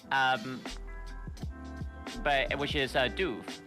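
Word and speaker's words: Dubh: thought it might be duv like like the way you pronounce siobhan okay okay so but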